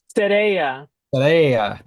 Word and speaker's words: Sereia: See, I always forget how to pronounce it. Sereia. Huh? Sereia.